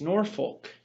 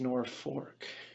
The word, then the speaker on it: Norfolk: and from now on the world looks at the spelling of the name of this town and says that's Norfolk but the people who know the story who know the town itself who grew up in the town say no this is nor fork in this Sunday's Old